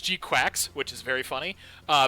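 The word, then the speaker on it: GQuuuuuuX: Gundam Series today uh it's called or it's pronounced G quacks which is very funny uh but just because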